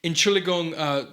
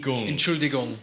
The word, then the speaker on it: Entschuldigung: You gotta pronounce the D though. You keep missing the D. Entschuldigung. Entschuldigung.